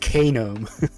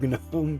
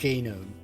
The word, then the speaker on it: GNOME: It's pronounced GNOME. Not GNOME, not KD, GNOME.